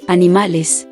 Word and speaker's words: animales: It's a short, open e sound, similar to the e in bed. So animals is Animales.